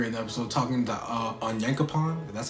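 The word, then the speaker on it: Onyankopon: like hanj later and episode talking to uh on yankapon that's how you say his name when i'm not butchering it on yankapon but um yeah they're talking they're chatting up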